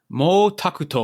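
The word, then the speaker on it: 毛沢東: that's not the point how would you pronounce his name in japanese mo takuto all right so pretty different still kind of close but yeah different enough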